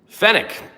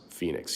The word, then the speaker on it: Phoenix: Fenick, how do you not know English? You're American. English is my second language. Keegan Jonathan says Phoenix. Yeah, that is uh how you're supposed to pronounce it.